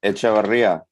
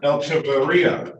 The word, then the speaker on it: Echevarria: Echevarria. You gotta roll your R's real good. Echevarria. Echevarria.